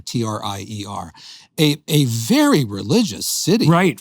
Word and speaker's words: Trier: Trier is spelled like Trier, Trier.